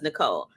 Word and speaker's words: Nicole: Nicole thank you because I hate when people mispronounce my name so I'm gonna put it up so that people know when they see it it's Nicole just Nicole thank you sister because